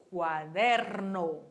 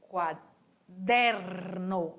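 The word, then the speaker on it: cuaderno: E caderno em espanhol é quaderno. Quaderno. Olha o meu R vibrando aí.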